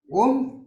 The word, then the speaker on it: Om: Om comprises of a, u, and ma. It's true, but it is not to be pronounced as aw.